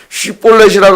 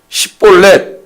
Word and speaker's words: 쉬볼렛: 발음을 못하는 우리도 쉬볼렛이라고 한번 해보시오. 이제 쉬볼렛을 못하고 시볼렛 에브라임이 이렇게밖에 못하는 사투리 때문에 그럼 너는 에브라임 지파야.